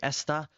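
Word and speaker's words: está: Okay, esta, with the accent on the A, is saying he or she is, pretty much, esta.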